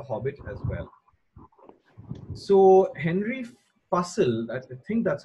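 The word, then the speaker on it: Fussell: pattern underlies the Hobbit as well so Henry puzzle at the thing that's how you pronounce his name fu SS e ll has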